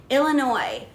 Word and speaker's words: Illinois: Hood AKA my brother's new hood of Chicago Illinois s a silent guys stop saying it like